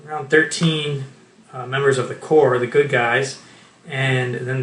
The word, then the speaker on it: Corps: brand, and people have been calling it the Corpse, which is an incorrect pronunciation.